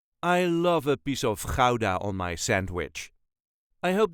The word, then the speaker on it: Gouda: way us duchies say Kaa not guda or GAA that sounds very silly to us so K there is a very slight emphasis on the first syllable da da all the